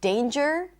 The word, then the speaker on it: danger: Sometimes you will see NG in the spelling, but it's not going to be pronounced as an NG at all. And it's usually when there is a silent E at the end, like in the word challenge or danger or ginger.